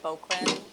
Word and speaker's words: Bouquin: My last name is pronounced Bouquin, just in case any of you are curious and want to mispronounce it later.